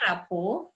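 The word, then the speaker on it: rapport: diterima oleh anak-anak keep rapuh ini dibacanya rapuh dari bahasa Perancis istri katakan Blora po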